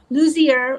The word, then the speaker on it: Lussier: Luzier. I I knew I would do that. That's okay. You got the French pronunciation.